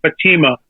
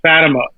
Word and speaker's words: Fatima: If you're in Portugal, I think you would say it's Fatima. Yeah. Over here, people call it Fatima. So either way works for me.